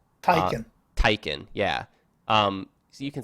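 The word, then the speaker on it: Taycan: do you say it I believe on supposed to be Taikan because that that would be how a German person would say that ta Y would be like tae Poong Taikan yeah so you can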